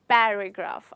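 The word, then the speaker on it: paragraph: जब आप प बोलें तो आपको PH का साउंड आना चाहिए।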